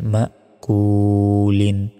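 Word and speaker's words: مأكول: লাম দুই জের লিন মা কুলন এখানে থামলে তিন সেকেন্ড টান হবে উচ্চারণটা হবে মাকুল প্রিয় দর্শক আপনাদের বোঝার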